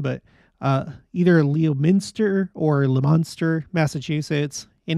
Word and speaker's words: Leominster: 11th, as well as Someone told me that it's Le Monster. That's how they pronounce it over there. And of course, you know, because English, it's not like we have ways of spelling things the way that they sound, but either Leominster or Le Monster, Massachusetts.